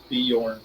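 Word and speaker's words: Björn: Andrew, but it's pronounced Bjorn. Yeah, Bjorn.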